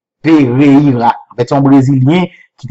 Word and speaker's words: Pereira: Donc, il y a eu l'émotion, Pereira, mon qui est au Brésil, nous a aidé, prononcer bien, c'est Pereira. Pereira.